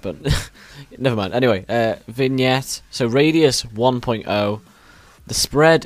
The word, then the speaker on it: vignette: even pronounce this one I think it's vignette I think that's how it's pronounced but I always say vget for some reason sorry